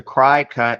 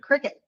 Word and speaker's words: Cricut: gonna talk about is the cry cut am I saying it right nope how do you say it Cricket that's a bug in